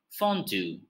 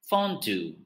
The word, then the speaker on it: fondue: dish is originated in switzerland and it is pronounced as fondue fondue and the last but not least is a